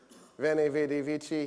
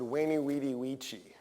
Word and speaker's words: veni vidi vici: there there was no there was no wha so when Gaius Julius Kaiser said veni vidi vici he didn't say that he said weyni wedi vici sorry Winnie wedi vici just for the record